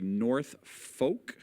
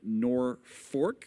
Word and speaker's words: Norfolk: Some say North Folk. Some say Norfolk, which I think everybody says.